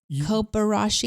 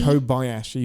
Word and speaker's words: Kobayashi: Kobarashi. Kobayashi.